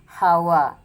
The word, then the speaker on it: hava: dah beli umpama ini tulisannya hava tulisannya kan tapi cara bacanya adalah hawa yang artinya udara hawa hawa seperti hampir